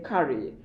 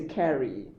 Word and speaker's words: curry: be curry i think yeah british we say curry american would say carry like your food you